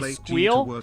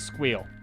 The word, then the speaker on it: SQL: So if you want to know what the correct way to pronounce SQL is, it's however your boss pronounces it. That is the correct way to pronounce it. On this stream, the correct way to pronounce it is squeal.